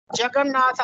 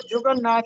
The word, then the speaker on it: جگن ناتھ: تھے، تلوک چند محروم۔ جگن ناتھ آزاد ان کے بڑے مشہور فرزند ہیں، اور اکثر لوگ اس کو جگن ناتھ پڑھتے ہیں، جبکہ درست تلفظ ہے جگن ناتھ، جیم پر زبر ہے۔ جی آگے بڑھے۔ جی